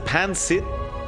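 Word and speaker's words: pancit: It's like pansit. You know, it's no gap between the pan and sit, but otherwise you've got it.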